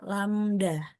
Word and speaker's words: lambda: kalau panjang gelombang itu lambangnya seperti ini bacanya lambda lamda ya jadi lambda ini sama